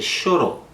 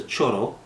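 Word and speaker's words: choro: genre known as a Sho some people would would pronounce it as a Cho I prefer Sho all right so um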